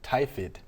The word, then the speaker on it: tiphiid: Tiphiid is how you pronounce it.